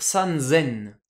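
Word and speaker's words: 三千: donner haiaku pareil pour 3000 San plus sen va devenir San zen plus facile à prononcer et enfin 8000 Hatti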